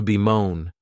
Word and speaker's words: bemoan: The next verb is to bemoan, and this verb has 2 syllables, and the stress is on that second syllable.